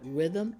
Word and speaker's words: rhythm: few we have rhythm you don't even hear the H but you hear the r Rhythm and we have